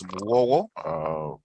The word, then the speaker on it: Muwowo: My last name is pronounced as Muwowo. That's M-U-W-O-W-O. That's how it's pronounced.